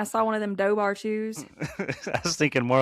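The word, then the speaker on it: Dobhar-chú: No, it'd be like dough bar chew. Went down Is to the that? lake the other day and I saw one of them dough bar chews.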